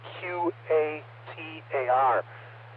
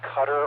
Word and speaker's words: Qatar: And also on the topic of the pronunciation of QATAR, brief reset. That can be pronounced a number of ways. Commonly we say a cutter or Qatar. Both are correct depending where you are in the world.